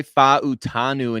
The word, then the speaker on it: Fautanu: thanks to Dane Bugler's NFL draft guide Troy fautanu in case you didn't know how to pronounce his name I certainly didn't before reading